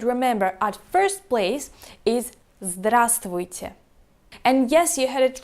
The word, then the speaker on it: Здравствуйте: at first place is Здравствуйте. And yes, you heard it right, we skip the letter V in the middle of the word because, 4 consonants in a row, that's too difficult even for Russians.